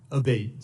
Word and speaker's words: Abate: We've heard it pronounced 3 different ways today in the hearing. Abate, Senator.